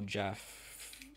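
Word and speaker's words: Geoff: Because it's spelled Goff. That's Jeff, right?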